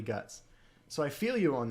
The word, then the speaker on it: Guts: Like Gatsu versus Guts, they put Guts, man. It's definitely Guts.